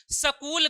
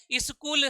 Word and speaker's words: स्कूल: बाद आता है तो आधे स का उच्चारण इ के साथ करना चाहिए। जैसे कि स्कूल हो गया हमारा। क्या हो गया? स्कूल हो गया। जैसे हमारा स्कूल गलत है, स्कूल सही है।